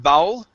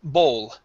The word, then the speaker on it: bowl: the word bowl okay instead of bowel it is bow bowl very good next up